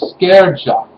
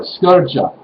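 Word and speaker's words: skerja: or seamstress uh were called the scareja or scurja which is spelled s-k-e-r-j-a or just an a-f-n without the j or the y and literally means shearing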